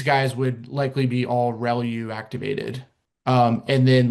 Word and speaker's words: ReLU: The the way you pronounce this is called relu. So relu r e l u usually how you'll hear that pronounced relu.